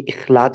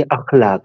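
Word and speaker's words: अख़लाक़: नाम है ना आपका य खलाक नहीं होना चाहिए अखलाक है ए से ठीक है य मैंने इसलिए बोल दिया बड़ी तादाद में हमारे मुसलमान इसको गलत प्रोनाउंस करते हैं खलाक अखलाक होता है अख खलक की जमा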